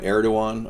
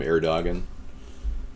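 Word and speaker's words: Erdoğan: going to call him eruan okay I was mispronouncing his name erdogan eruan okay this one's real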